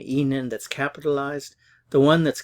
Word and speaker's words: Ihnen: be Enon Escape and notice that Enon it's pronounced the same as the next one Enon that's capitalized the one